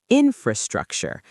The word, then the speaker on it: infrastructure: Infrastructure. Stress the first syllable.